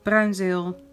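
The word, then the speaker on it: Bruynzeel: that are in there brown zeal or bronzer i'm from holland so i know how to pronounce it brazil pencils 12 soft grip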